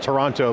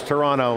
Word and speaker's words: Toronto: It's Toronto. I always blow it. I call it Toronto, being the American that I am. It's Toronto.